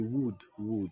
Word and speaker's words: would: He would, je ne prononce pas les L.